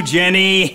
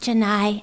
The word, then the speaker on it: Janai: How about you, Jenny? I'm ready, and it's pronounced Janai, actually. Janai.